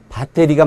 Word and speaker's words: 배터리: 않아야 합니다 자 여기 다 때리 이렇게 발음을 많이 하는데 뭐 정확한 영어는 배터리가 맞고 배터리 정도가 맞겠죠 그러나 이것도 우리가 그냥